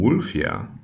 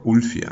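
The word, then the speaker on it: Wulfila: was a man named wolfia or wfia this depends on how you want to pronounce it but wfia or wolfia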